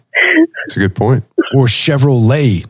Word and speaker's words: Chevrolet: Or Chevrolet. There's a T on the end of that, man. Nah, it ain't there.